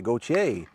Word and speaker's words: Gauthier: Is going to be, give her my French pronunciation and say Gautier.